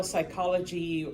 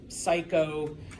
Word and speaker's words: psychology: uh tmy and yeah if you can spell psychology or psycho um just remember there's a silent P all right there ladies